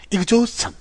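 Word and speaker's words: exhaustion: 미국 분들은 이 부분을 이그저스천 이런 식으로 하죠. 이그저스천에 가깝게 발음할 거고요. 영국 분들은 이 부분을요. 이그조스천 이렇게 조스에 가깝게 발음할 겁니다.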